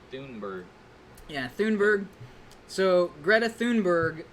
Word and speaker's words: Thunberg: I heard it's supposed to be pronounced Thunberg.